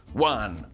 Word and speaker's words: one: It's one. That's one. Like it rhymes with words like sun, fun, gun, and my favorite, pun.